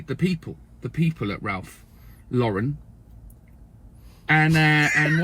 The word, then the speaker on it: Ralph Lauren: people the people at Ralph Lauren and uh and one of my colleagues was was was repeatedly saying Ralph Lauren cuz cuz cuz we're you know we're English. That's how you say Ralph Lauren.